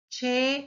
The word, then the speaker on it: che: Che is formed, the sound of che is formed with two letters. See? And we pronounce it cha, che, chi, cho, and chu. Like the English word challenge.